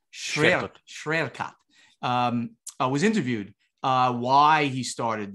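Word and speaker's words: Świerkot: Schwerkot.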